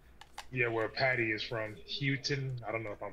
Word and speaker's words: Huyton: How do you pronounce this, Lucas? It's Huyton. H-U-Y-T-O-N. Yeah, where Paddy is from. Houghton.